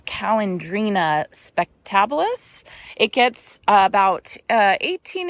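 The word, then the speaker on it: Calandrinia: Okay, starting over here in this garden bed, I planted the Calendrina here, and I think I pronounced it wrong yesterday. It's Calendrina spectabilis.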